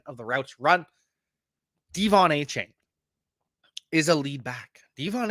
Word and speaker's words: Achane: And I'm getting used to that Achane, not A-Chain. Got to pronounce the name right.